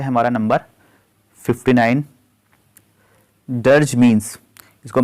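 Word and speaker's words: dirge: next जो होगा वह है हमारा नंबर 59 डर्ज मींस इसको प्रोनाउंस करते हैं डर्ज डर्ज मींस क्या होता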